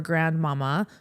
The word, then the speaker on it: Grandmama: She is only ever addressed as Mama or Grandmama, with the accent always on the final syllable.